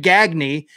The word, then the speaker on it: Gagne: the same name, but they they pronounce it differently. So, it's Greg Gagny and Greg Ga.